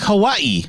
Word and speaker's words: Hawaii: It's like Hawaii. You say the I twice.